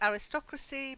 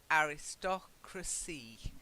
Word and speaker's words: aristocracy: it broken very good then we have the aristocracy but they are aristocratic aristocratic right I was still pratik that's it yeah good although we do say as I said aristocracy so it can be a little bit you